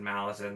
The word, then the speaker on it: Malazan: That's right, I said Malazan, that's how I pronounce it.